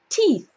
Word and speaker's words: teeth: many teeth okay teeth remember the first T is just a normal T so nice and clean and we end with teeth teeth alright I hope